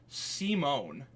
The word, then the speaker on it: Simon: Like s e a space m o a n.